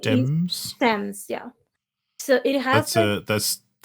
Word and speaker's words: Thames: Um, okay, on Paris we have like the Thames or Thames. I don't know how you pronounce it in English, but the thing is Thames.